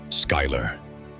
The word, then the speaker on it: Schuyler: Schuyler. Schuyler. Pronounced Schuyler.